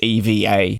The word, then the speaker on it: EVA Air: However, the correct pronunciation is to actually say the letters EVA.